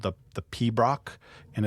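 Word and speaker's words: piobaireachd: their own classical music tradition called the the Pab Brock. And it's funny, this word is spelled P I O B A I R E A C H D, but it's pronounced P Brock.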